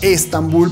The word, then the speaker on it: Estambul: comida del sol que se llama estambul porque así se pronuncia en español con él y que pacho